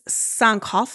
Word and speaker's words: Sankofa: I pronounced it wrong last week. It's Sankofa, I think is how you pronounce it.